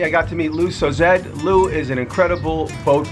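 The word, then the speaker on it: Sauzedde: My last name is pronounced Sozed. And the A and the U make an O, and the last E is not pronounced, so it's Sozed, 2 syllables.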